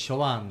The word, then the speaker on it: Chauvin: Porque no es Chauvin, es Chauvin. Chauvin.